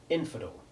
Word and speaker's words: infidel: alters the sound of the letter e in infidel in which the unstressed el syllable has the short e2 sound and infidelity where the same syllable becomes stressed and changes to short e1 similarly a change of